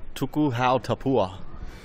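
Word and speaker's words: Tuku Hau Tapuha: What's the correct pronunciation? Tuku Hau Tapua.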